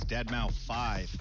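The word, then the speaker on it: deadmau5: You know, the moment John said this has been a good show, your friend Joel, professionally known as Dead Mau 5. Yes, that is the correct way to pronounce it.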